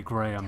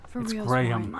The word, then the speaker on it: Graham: I won't even prescribe the way Americans say Graham tell me everything it's not Graham gram this is between you